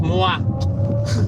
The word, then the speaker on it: moi: But I know it's pronounced moi, as in me in French.